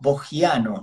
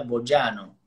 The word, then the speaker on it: Boggiano: Se podría pronunciarlo Bogiano, ¿no? Con doble G. Sí. A mí el sonido J no me gusta, en realidad es italiano, el apellido, la I no se pronuncia, sería Boyano, pero bueno, si yo digo